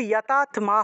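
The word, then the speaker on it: यतात्मा: এখানে কিন্তু যতাত্মা হবে, ঠিক আছে। আত্মা, আত্মা ত আগে উচ্চারণ হবে, তারপরে ম উচ্চারণ হবে, তাহলে যতাত্মা এইভাবে উচ্চারণটা হবে।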